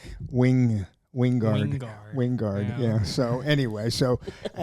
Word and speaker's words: Wingard: movie I just finished with him and he pronounces his name Wing Wingard winguard yeah so anyway so um anyway getting